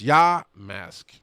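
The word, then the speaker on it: Yamask: I've been looking at I am saying it right yah mask its yah mask is how it says in the book raid exclusive costume Pokemon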